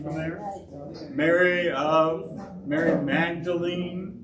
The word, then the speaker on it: Magdalene: there mary of mary magdalene magdalene technically you pronounce the e come from this area